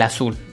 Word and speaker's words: azul: azul dos sílabas donde lleva la misma la mayor fase de voz en azul verdad yo no está diciendo pásame el azul no siendo estoy diciendo pásame el azul entonces aquí es la última sílaba y por ende es aguda siguiente clasificación palabras graves las